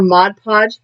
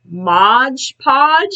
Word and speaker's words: Mod Podge: not realize that her mod podge had a flip top cap yeah so i am using my i say it wrong every time modge podge no g mod podge mod podge to glue